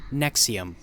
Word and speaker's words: NXIVM: hypnotism in neuro-linguistic programming the letters nx ivm don't represent an acronym it is rather a weird way to pronounce the word nexium with the letter x supposedly representing the sound x and v pertaining to the latin way of pronouncing the same character that back then represented the u sound their main selling point